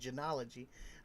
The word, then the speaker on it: genealogy: How did advances in DNA technology and genetic genealogy, that's how you say it, genealogy, transforms the investigation into the Gilgo Beach killings?